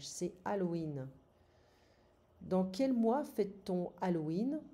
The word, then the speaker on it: Halloween: So, c'est Halloween, but we don't pronounce the H in French. C'est Halloween.